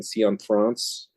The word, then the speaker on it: Cianfrance: cion France which I did look up the pronunciation cion France you know it's one of those names where